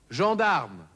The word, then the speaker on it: gendarme: Das G vor einem E, I oder Y wird stimmhaft ausgesprochen.